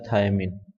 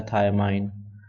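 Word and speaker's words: thymine: और तीसरा जो आता है वो आता है थायमिन। या थायमाइन। दोनों में से कोई भी नाम आप प्रोनाउंस कर सकते हैं।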